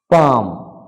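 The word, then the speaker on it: palm: দেখি শব্দগুলো কি কি পাম পাম মানে will beat will not be pronounce পাম মানে তালি বা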